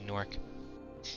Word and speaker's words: Gnorc: Why don't Americans pronounce the G in nasty gnorc? Because the G is silent.